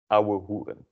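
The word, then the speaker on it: ouwehoeren: Yeah, and so pay attention to how you pronounce the OU as au and the OE as u, auhugen.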